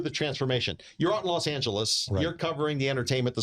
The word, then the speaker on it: Los Angeles: You got to say it correctly. Los Angeles. Los Angeles. Los Angeles. That's right. You know, not like the gringo says it, but uh how I